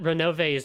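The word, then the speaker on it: Ronove: get into well it's it's important that renove's name is three syllables because has everyone taken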